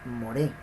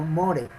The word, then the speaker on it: moré: golpe de fuerte desde el golpe de voz lo lleva en la segunda sílaba se produce moré no more' algunos temores como estamos